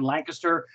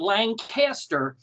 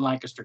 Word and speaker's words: Lancaster: and raised in in Lancaster Pennsylvania for those of you that not sure how to pronounce it correctly it's not Lancaster it is like a kisser so no emphasis on the cast emphasis on the one